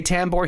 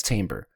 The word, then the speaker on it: Tambor: Like, there's always like, you say Tambor, he says Tamber.